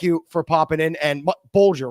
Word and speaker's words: Bulger: And Bulger, right? Am I pronouncing that right?